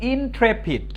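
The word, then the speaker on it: intrepid: উচ্চারণটা হচ্ছে ইন্ট্রেপিড। কি বলতো? ইন্ট্রেপিড, ইন্ট্রেপিড, ইন্ট্রেপিড, সোজা কথা ইন্ট্রেপিড। INTRE, tray, PID, পিড, ইন্ট্রেপিড, ইন্ট্রেপিড।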